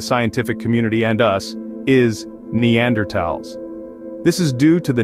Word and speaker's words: Neanderthals: of the homo sapiens story they encountered the Neanderthals these were an older more primitive species of